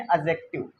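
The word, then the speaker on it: adjective: इसको पढ़ते हैं एक्चुअल में एडजेक्टिव, ये डी साइलेंट होता है, पर ठीक है, एडजेक्टिव, वी आर इंडियन, कोई दिक्कत नहीं है।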